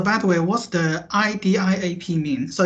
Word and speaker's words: Idiap: So by the way, what's the IDIAP mean? So it's a word or it's just a kind of a logo? So how to pronounce it? Yeah, you say IDIAP.